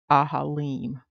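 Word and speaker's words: אֲהָלִים: It's pronounced in the Hebrew ahalim.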